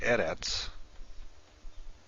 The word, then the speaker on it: Eretz: In a word like Eretz, which means land or earth, the first syllable is accented.